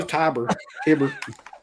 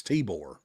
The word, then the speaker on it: Tibor: No, it was Tiber. Tibor. No, we asked Felcher because Felcher interviewed him. Like, how the hell do you pronounce this dude's name? And I remember he said it was Tibor.